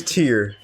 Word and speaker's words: Tear: Oh, so it is Tear, like because it said like crying. Okay. Oh, I've been saying it wrong the whole time. I'm sorry. It is Tear, because they confirmed not like tearing paper. It is Tear, like crying.